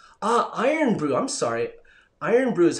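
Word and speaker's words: Irn-Bru: for him um ah iron brew i'm sorry iron brew is how you pronounce that lino thank you so much um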